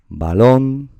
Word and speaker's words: balón: Si vemos, por ejemplo, balón, la sílaba tónica será lon, es donde está la tilde, hay ni duda ninguna.